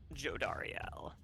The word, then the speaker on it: Jodariel: How's her name pronounced? Jodariel.